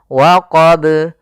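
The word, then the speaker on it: وَقَبَ: Kemudian waqab, ya, waqab. Di sini ada qalqalah, yaitu bacaan yang dia memantul. Tapi hati-hati, kesalahan yang terjadi adalah tidak memantulkannya. Yang kedua, menambahkan hamzah.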